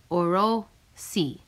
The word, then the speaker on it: Orosi: I took out my notepad and wrote the word down, breaking it into 2 syllables. Orosi.